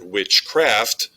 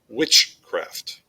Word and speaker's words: witchcraft: on the second syllable likewise with the word witchcraft there's a stress on the first syllable witchcraft with trochaic the stress